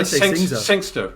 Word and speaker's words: Singxer: Sing, and then it's XER? Yeah. Let's call it Singxer, right?